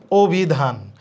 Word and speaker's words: অভিধান: এর মত করতে হবে এখানে অভিধান ভ এর সাথে ই আছে এই যে ই আছে তাহলে এর উচ্চারণটা কিসের মত হবে ও এর মত হবে অভিধান হীনও দিয়েছি কারণ